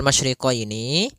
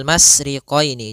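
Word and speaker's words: الْمَشْرِقَيْنِ: Pada lafal masyriqaini maka di sini ada huruf syin maka kita harus membacanya dengan adanya sifat tafasyi. Apa itu tafasyi? Tafasiyi adalah salah satu sifat yang terkandung di dalam huruf syin yaitu menyebarnya suara. Sehingga jangan dibaca rabbul masriqini.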